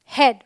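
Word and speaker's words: head: तो ये है ब्रेड, ड्रेड, हेड, all right.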